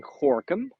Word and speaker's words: Gorinchem: So, and it's, this is the city that's called, we're in Dutch, we're saying Gorkum. Gorinchem. You're writing it. Don't try to pronounce it.